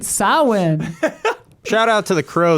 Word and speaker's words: Samhain: Samhain. Yeah. That's how you say it? Glenn Danzig's Okay. side band, Samhain or whatever. Samhain. Yeah. Get it right, Samhain.